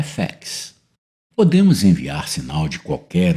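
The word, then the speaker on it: FX: efeito é identificado pelas letras e f x cuja pronúncia em inglês é fex podemos enviar sinal de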